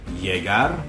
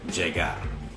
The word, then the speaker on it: llegar: The double L in Spanish is just pronounced as either the English Y or the English J.